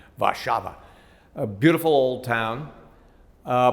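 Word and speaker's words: Warszawa: love that's warsaw and i love the way they pronounce their city's name vashava a beautiful old town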